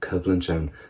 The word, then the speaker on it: Cibhlann: Go will Colscaradh agus Cibhlann. Let's go for the word Colscaradh. We know as contrast. What about the word Cibhlann? that V pronunciation in the middle of it, civlinch, conflict.